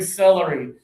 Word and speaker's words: celery: So, for this one, we're going to close our teeth. This one, we're going to open big. So, let's go back here for a a salary. Salary. Salary. Yeah. And now for this one. Close your teeth.